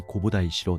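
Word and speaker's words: 弘法大師: 이후 942년 다이고 덴노는 구카이에게 홍법대사라는 시호를 내렸고, 이는 일본에서는 홍법대사의 일본어식 발음인 고보다이시로 널리 알려지게 되었습니다.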